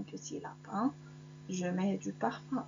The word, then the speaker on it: parfum: et le mot brun parfum um se prononce 1 brun un se prononce